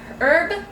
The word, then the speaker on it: herb: This one is chunky tomato and herb. I just heard herb. The H is silent.